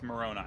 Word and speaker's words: Moroni: going yeah I miss I mispronounced that one it's Moroni because it's the it's